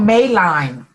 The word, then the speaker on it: Madeline: Okay, it's spelled Madeline. Madeline. No, M-A-D-E. Like I made it.